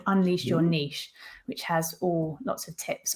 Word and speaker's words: niche: Niche whisperer. Yeah. And then you can spend half the interview telling people it's actually pronounced niche.